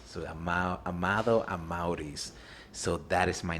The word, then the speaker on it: Amaurys: So she took the beginning of my dad's name, Amado, but named me Amaurys. So Amado Amaurys.